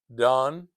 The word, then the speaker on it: Dan: But, Don, Dan d a n, I'm saying it sounds like d o n d o n in English.